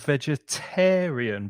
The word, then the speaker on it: vegetarian: And the Mm-hmm. stress moves to the middle finger, the middle syllable.